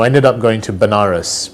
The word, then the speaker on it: Banaras: ended up going to Banaras which is a place in in India sometimes pronounces veneris which is a place